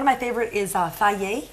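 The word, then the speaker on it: Fage: yogurt and one of my favorite is uh Faye it's spelled f-a-g-e but um it's pronounced and I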